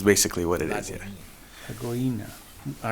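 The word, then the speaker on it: Lagoinha: Did I pronounce the name of the church correctly? Lagoina. It's Lake. Little Lake is basically what it is. Yeah. Lagoina.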